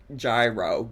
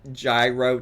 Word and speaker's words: gyro: The G is silent, but I love your videos lol. It's It's said euro not gyro gyro whatever.